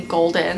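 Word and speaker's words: GLDN: It's from the company Golden. It's spelled G-L-D-N, and their packaging is just so cute, first of all.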